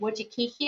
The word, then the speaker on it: Wojcicki: Wojcicki, I think is how you pronounce it.